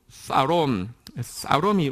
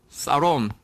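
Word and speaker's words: שלום: 이 단어를 원어로는 뭐라고 하냐고 하면, 영어에서는 영어 발음이 좀 원어하고는 다릅니다. 그래서 샬롬이라고 부르는데, 원어 발음은요, 한번 따라하겠습니다. 사롬이 원어 발음입니다.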